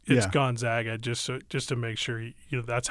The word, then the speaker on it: Gonzaga: stop the interview and go, I'm sorry, it's Gonzaga, just to make sure that's how you pronounce.